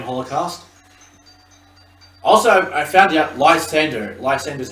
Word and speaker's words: Lysandre: Also, I found out Lysander's how you pronounce it.